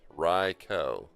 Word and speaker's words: Raikou: Japanese Rai Thunder plus Ko Child. Thunder Child. Raikou.